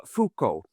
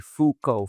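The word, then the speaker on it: Foucauld: dur something so he's char c dur which is spelled d e delta echo And then uh fukco uh and that is I think rather easy.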